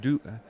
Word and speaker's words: Duc: propeller on the front Duke Duke I think is the way that they pronounced uh-huh I call it duck I think they don't like that Duke propeller the those